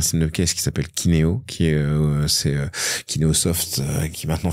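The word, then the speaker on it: Keyneo: a pris un système de caisse qui s'appelle Kineo, qui est Kineosoft, qui maintenant fait partie de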